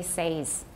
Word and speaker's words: says: face so made help however in some dialects of british english they say says so when i say that's wrong that's wrong fix it it's wrong relative to standard american or general american some dialects do say says now any case in